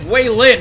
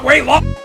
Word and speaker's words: Waylin: It's Waylin, not Waylon!